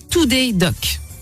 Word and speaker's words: Tooddoc: à de départ devrait en fait on dit tout des docks donc ses lecteurs aujourd'hui installée est donc vraiment